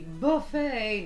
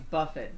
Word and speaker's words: Buffett: being called Pedro Bonet kind of like a bucket versus a bouquet its bouquet so yeah it's Jimmy Buffet not Jimmy Buffett but so oysters and